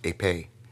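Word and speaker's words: ἐπί: The original Greek word used for in their right hands or in their foreheads, is pronounced epē.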